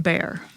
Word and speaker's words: Bexar: It's spelled Bexar, but it's pronounced Bear.